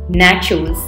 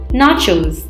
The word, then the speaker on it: nachos: often incorrectly pronounced as naturals please remember the N a here is pronounced as na and not nay making it sound like nachos so the correct pronunciation of the word is nachos spaghetti is pasta made